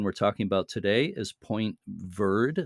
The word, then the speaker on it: Point Verde: The light station we're talking about today is Point Verde, as they pronounce it, Verde, or Verde in French, Point Verde, near Placentia on the west coast of Newfoundland.